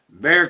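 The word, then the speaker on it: Bexar: Drake was born in be County that's spelled b x a r bear county is the home of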